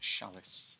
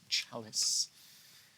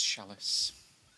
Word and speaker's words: chalice: care what Stellar say it is not pronounced shalice it is chalice perhaps if you're on the continent it's chalice but not here into France a couple